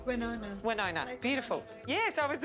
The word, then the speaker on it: Winona: Winona.